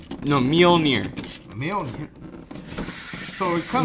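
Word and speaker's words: Mjölnir: I thought it was Thor's hammer mjolnir oh a millionaire no mjolnir a millionaire so it comes mule like donkey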